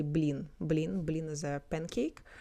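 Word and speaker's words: блин: So another alternative people say blin.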